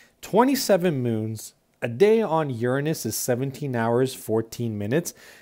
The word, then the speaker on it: Uranus: and let's get started introduction uranus it is pronounced uranus it's from the greek word meaning sky in